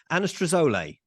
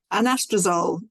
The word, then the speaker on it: Anastrozole: to talk about this new how do you pronounce it? Anastrozole. Anastrozole.